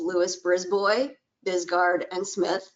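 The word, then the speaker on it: Lewis Brisbois Bisgaard & Smith: She did not butcher the name. It is Lewis, Brisbois, Bisgard, and Smith. I was pronouncing it all wrong.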